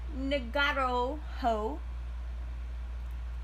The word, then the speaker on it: Ngauruhoe: Mount Ngauruhoe and Mount Ruapehu in Tongariro, this is how you pronounce these things, I promise, National Park, to